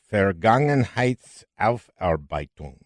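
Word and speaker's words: Vergangenheitsaufarbeitung: the book uh let's see if i can pronounce it correctly fair gangnam heights alf arbeitum oh that's very good you got it right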